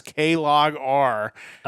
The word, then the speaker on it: Klogr: It is named after a psychophysical law, S equals K log R, which has to do with like stimulus and how it is affected in the brain. So definitely that's why it's pronounced Klogr.